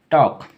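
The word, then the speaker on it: talk: उच्चारण होगा ठीक है टॉक अब आप बोलेंगे टॉक बोल रहा है एल का उच्चारण नहीं होगा ठीक है इस बात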